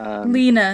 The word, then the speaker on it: Lena: And the girl, Layla, is it Layla? Or why am I pronouncing the name wrong? Lena? Lena. Simone and Lena, yeah. Yeah, Lena. I was calling her Layla.